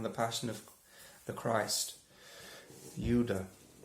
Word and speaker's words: Judas: passion of the christ yudha sounds a bit like yoda that definitely not a